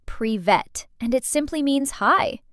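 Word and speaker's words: привет: This one is pronounced prevet and it simply means hi.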